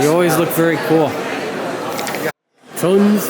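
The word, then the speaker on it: Tunze: Tuns, we're here. I've been saying Tunzi. I've been saying it wrong for basically most of my life.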